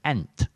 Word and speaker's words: ain't: the north moors so if you pronounce this ain't like someone from oxfordshire workshop you should pronounce like ant so sam without knowing